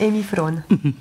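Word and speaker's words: Hemifrån: dire en français hermifan comment ce serait on le prononce en suo dirait emyon voilà donc c'est mieux et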